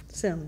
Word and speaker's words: Semmes: I'm here with Katherine Semmes. Semmes.